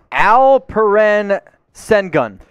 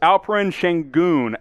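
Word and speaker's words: Alperen Şengün: right one more try al paren send gun all right we'll go ahead and pronounce this right it is alprin shenggoon alprin changoon and one of the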